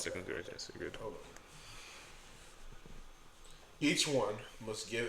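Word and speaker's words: 2 Corinthians: Second Corinthians. That's why I said you said Corinthians 2, but it's pronounced second Corinthians.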